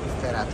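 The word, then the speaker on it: Sterrato: Temos aqui o meu Lamborghini Sterato, acho que é assim que se pronuncia. Sterato, exatamente.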